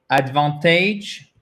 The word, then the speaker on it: advantage: The stress is on the second syllable, right? Yeah. Advantage. OK. Et même si vous avez un N ici entre le T et le A, comme là, vous avez une voyelle, et là, vous avez une voyelle, le N ne compte pas et il se prononce presque comme un de, OK?